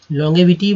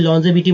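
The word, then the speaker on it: longevity: लॉन्जेविटी जी का उच्चारण करेंगे, ग का उच्चारण नहीं करेंगे। लॉन्ग ऐसे एक्चुअली एलएनजी लॉन्ग होता है, लेकिन यहाँ पर लॉन्गेविटी बोल सकते हैं, लेकिन लॉन्जेविटी बोलेंगे तो ज़्यादा शुद्ध उच्चारण हो जाएगा, यानी दीर्घायु चिरायु, तो लॉन्जेविटी।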